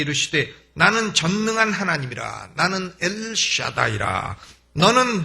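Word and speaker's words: אֵל שַׁדַּי: 하나님으로 전능의 하나님으로 나타났다 전능의 하나님은 히브리어로 엘샤다이 있니다 엘샤다이 우리 한번 옆에 계신 분하고 발음해 보시죠 엘샤다이 엘샤다이 하나님의 이름은 오늘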